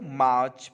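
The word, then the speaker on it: March: Actually र silent होता है, British phonetics में र साइलेंट रहता है, इसीलिए हम इसको मार्च पढ़ते हैं।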